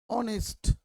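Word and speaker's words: honest: ऑनेस्ट, ऑनेस्ट ओ से हो रहा है, ओ से, यानी कि ओ से हो रहा है।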